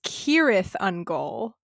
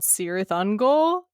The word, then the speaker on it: Cirith Ungol: The C's at the beginning of words in Elvish are pronounced like K's.